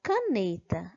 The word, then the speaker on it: caneta: é a sílaba por na palavra caneta a sílaba mais forte é a sílaba nê na palavra matemática a